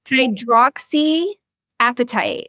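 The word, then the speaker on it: hydroxyapatite: It's hydra hydrox like hydroxy appetite. So think hungry. I'm hungry.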